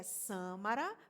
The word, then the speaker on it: Sâmara: Meu nome é Sâmara, uma palavra proparoxítona, portanto sempre deve ser acentuada.